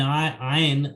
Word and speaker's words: iron: So in iron, R is silent. So we do speak it like this: iron. R is no R letter is silent.